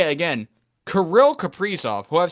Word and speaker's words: Kaprizov: It's not a Caprice Sun, it's Caprice off. And I'll say it again. Kirill Kaprizov, who I've said his name wrong for so long, has still been so good.